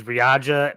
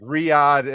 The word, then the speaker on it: Riyadh: I know what the city that you're thinking of is Riyadh, but I think I'm butchering that pronunciation like I butcher everything. Riyadh. It's Riyadh.